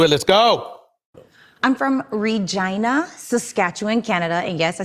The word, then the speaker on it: Regina: would get into it let's go I'm from Regina Saskatchewan Canada and yes I said it right Reina Saskatchewan Canada um It's a Small Town in